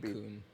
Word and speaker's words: Suicune: Final Fantasy, where the It's ones in the pronounced back could be. Suicune.